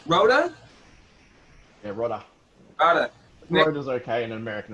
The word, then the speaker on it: Rodda: here with my man nick i believe is pronounced rhoda okay in an american accent i'll take that